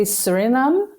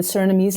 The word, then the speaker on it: Suriname: Yeah, in English you would say Suriname, I guess, but in the Surinamese language, which is also Dutch, a mix between Dutch and Creole, it's Suriname.